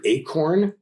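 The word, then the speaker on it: Achorn: is written by an Edward Acorn I think is how I pronounce it AC h o RN it's fantastic and so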